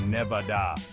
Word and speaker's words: Nevada: so next time you're feeling lucky remember it's Nevada no need to Guild the Lily next we